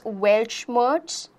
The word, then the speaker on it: Weltschmerz: We will be pronouncing it as Weltschmerz. Welshmerz is going to be pronounced.